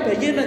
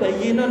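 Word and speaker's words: بيّن: Itu bacanya bayyinun ya, bukan baina, Pak. Ada orang yang baca Pak al halalu utawi halal itu baina. Baina itu di antara. Tapi kalau bayyinun itu pertelo atau jelas. Jadi itu bacanya al halalu bayyinun, bukan baina.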